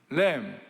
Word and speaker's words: LAMB: LAM, 램, 어린 양, LAMB, B is 묵음, 똑같아요, 발음이. Life as mission.